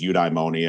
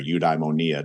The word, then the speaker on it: eudaimonia: my dissertation which is eudaimonia or udaimonia depending on who you want to uh pronounce it for you which is more